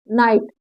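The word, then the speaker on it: night: आगे देखिए राइट आर आई जी एसटी राइट नाइट नाइट एन आई जी एसटी नाइट ठीक है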